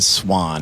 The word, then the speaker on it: Suahn: It's spelled Suahn. Swan.